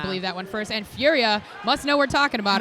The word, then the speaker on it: Furia: a few comments already that is how he wants his name pronounced I was told this he has a fabulous brilliant accent cuz he's actually from France and so he is Furia not furio like us lazy Americans tend to call